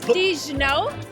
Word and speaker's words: Digno: bit about it absolutely so let me just pronounce it ABS correctly it's D no and the name drives from digo which means